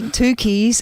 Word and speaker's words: Tucci: Is Stanley Tucci's sister-in-law. Is that how you say his name? Oh, Mitch? Tucci.